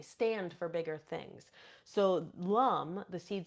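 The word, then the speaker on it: lam: So, the seed sound of the root is lum. It is spelled L A M, but we pronounce it lum.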